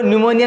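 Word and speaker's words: pneumonia: Pleuro न्यूमोनिया में P silent, pleuro न्यूमोनिया like organism, न्यूमोनिया जैसे जीवधारी।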